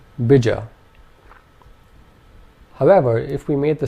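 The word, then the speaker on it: bīja: If we made both the vowel sounds long, this would be said as bija. Bija. And finally, if only the first vowel sound was long, this would be pronounced bija. Bija. And the word bija in Sanskrit means seed. So do you notice how much of a difference it makes to hit the right long and short vowel sounds?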